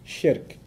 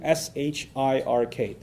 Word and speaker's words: shirk: something else to God, is called shirk. I'll spell that out for you too, S-H-I-R-K. So nothing worse for a Muslim, from his faith perspective, nothing worse than shirk. S-H-I-R-K. Sounds like Shrek, so that's easy to remember, right?